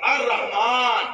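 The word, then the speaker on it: الرحمن: কিন্তু যখন আপনি হ দিয়ে পড়বেন আর রহমান, তখন ব্যাখ্যা হবে মারহাম পট্টি করনেওয়ালা।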